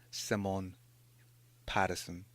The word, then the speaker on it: Simone Patterson: Her name is Simone Patterson.